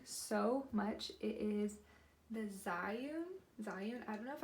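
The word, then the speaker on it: Zhiyun: love this thing so much it is the Zion Zion I don't know if I pronounced that right but Zion z-h-i-y-u-n Zion smooth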